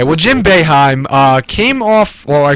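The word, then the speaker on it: Boeheim: I'm going to say it probably wrong again because sometimes when I when I think of a name wrong, I just say it wrong. And and Jim Bohem Beheim.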